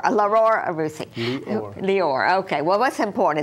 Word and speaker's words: Lior Arussy: I said the first name wrong. Lior Arussy. Okay. Right. I forgot the Dior. Lior Arussy.